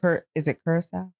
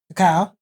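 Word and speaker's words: Curaçao: Is it Curacao? Yeah, good job. Curacao, yeah. That I never pronounced correctly because I don't know. How had you been pronouncing it? Cacao. Yes. What happened to the R?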